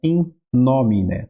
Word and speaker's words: in nomine: Então aqui o acento vai ser aqui e é in nomine, tá? Muito importante a pronúncia do M e do N da forma correta, diferenciar bem, tá? O M e do N, tá?